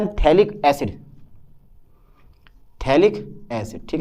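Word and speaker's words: phthalic: इसको बोलते हैं हम थैलिक एसिड। और यह है थैलिक एनहाइड्राइड। आप पीएच लगा दो, यहाँ पे गड़बड़ हो जाए थोड़ा सा, पीएच कर सकते हो पीएच, थैलिक एसिड में पीएच साइलेंट होता है ना, इसमें थैलिक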